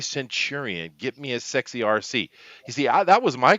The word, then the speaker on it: Arcee: When they were saying RC, I thought they were talking about remote control. The puppeted transformer. But no, her name is spelled with an ARCEE.